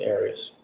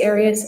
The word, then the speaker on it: Arias: way of pronouncing it if you always pronounce it Aries I've heard it pronounced about seven different ways I say areas as the rest of my family well let's back out